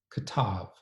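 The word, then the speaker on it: כתב: later pronunciation of Aramaic, the b is pronounced often times as a v, when the b follows a vowel. So, in this case, it would be pronounced, in later Aramaic, as “katav,” and that would indicate the idea “he wrote.”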